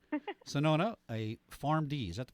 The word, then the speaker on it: Shenoda: Sonona, a PharmD.